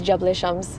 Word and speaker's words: Jebel Shams: But it's Jebel Shams.